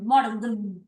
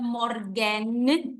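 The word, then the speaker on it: מאָרגן: fíjense que es mor morg no es morgen no hay una e sino que va directo a la n morg Okay eso es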